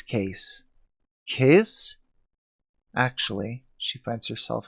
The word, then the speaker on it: Cayce: nerd innocence that somehow she accepts no it's case case actually she finds herself explaining it should be pronounced Casey like the last name of man